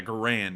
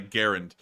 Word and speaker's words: Garand: in his grave considering how many people call it a grand and not a Garand um but but this